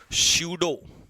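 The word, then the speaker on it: pseudo: शूडो P silent रहेगा।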